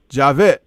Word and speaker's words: Javed: you story b man this is javed javit yes sir that's how you got out that that's that's how you pronounce i was hoping i could learn how to pronounce your name javette oh you know yes